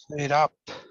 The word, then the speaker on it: fed up: Fed up. Fed up, yeah. Obviously, there's 2 syllables there, and yeah. Yeah, often we stress the particle, so it's fed up.